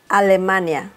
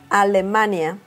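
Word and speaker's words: Alemania: say Germany in Spanish in Spanish Germany is a Lamanna allamani that's quite different right okay the next one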